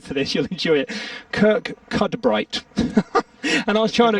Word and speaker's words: Kirkcudbright: called, hold tight for this, you'll enjoy it, Kirk Cudbright. And I was trying to explain it exactly. He said, eventually, literally half an hour later, Kirkcudbright.